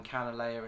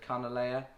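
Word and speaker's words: Kanile'a: it can Alea and I'm sorry if at some point in this video I use the term canna layer instead of carnal layer I know it's a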